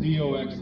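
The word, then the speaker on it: δόξα: In Greek, it's the word doxa, D-O-X-A. It's pronounced the same as it looks in Greek, doxa.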